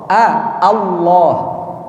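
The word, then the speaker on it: الله: Kita sebutkan dulu huruf A biar mudah. A bukan O tapi A.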